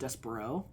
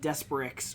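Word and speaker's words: Despereaux: anything about French, so I did not know it was pronounced Despero. I thought it was like Desperix or something like that, and I was like pronouncing Desperate quick. it like super wrong.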